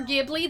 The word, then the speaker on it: Ghibli: Give me more Gibli. That's a good way to remember it. Honestly, it's the proper Italian pronunciation.